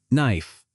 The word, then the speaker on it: knife: Knife. Knife. Use a sharp knife to cut vegetables. Remember, the K is silent.